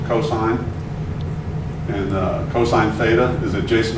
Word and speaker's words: cosine: Cosine, the abbreviation is COS. You pronounce it cosine.